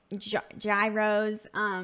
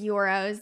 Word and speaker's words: gyros: I definitely love euros some people pronounce them gyros but it is euros to Greek food I